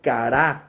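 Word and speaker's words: קרא: hablar con mucha fuerza viene del hebreo cará como cara pero con acento en la a cará cuando tú escuches o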